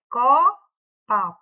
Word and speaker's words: copa: Mas a palavra correta não é copa, é copa, copa. A mais forte seria o có, certo? Aqui, ó, a mais forte é o có, é a sílaba tônica, tá?